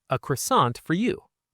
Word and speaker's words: croissant: The word for croissant is well, it's croissant, but Claire is going to say it with that beautiful French nasal sound. Listen for the N that isn't really an N.